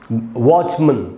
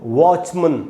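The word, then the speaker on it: watchman: यहाँ इस वाले मन में ज़्यादा देर नहीं रुकना है, म और न को बिल्कुल एक साथ बोलना है, जैसे आधा ओ हो बीच में, उस प्रकार से मन, मन, वॉचमन, इस प्रकार से बोलेंगे वॉचमन। ठीक है दोस्तों, आप समझ गए। तो इसको पढ़ना है हमको वॉचमन, वॉचमैन नहीं। तो आप पूछ सकते हैं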